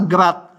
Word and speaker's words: grad: Ini sama grat gr bacanya grat gitu ya.